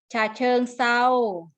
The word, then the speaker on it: ฉะเชิงเทรา: รับ ทราบ ไหม คะ ออก เสียง เป็น เสียง ซอ ฉะเชิงเทรา หาด ทราย ปลา อินทรีย์